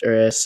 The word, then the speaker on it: Urus: I know that the Lamborghini Urus, it's pronounced Urus. I double check that. But I don't like saying Urus. I like saying Urus. So I'm gonna refer to it as Urus because I hate saying Urus.